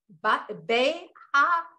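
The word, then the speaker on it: בְּהַעֲלֹתְךָ: It means when you step up, but it's pronounced this way, Behaalocha, Behaalocha, Behaalocha, yeah, Behaalocha.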